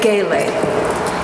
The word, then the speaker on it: gele: But today it's going to be a gele. Gele is spelled G-E-L-E.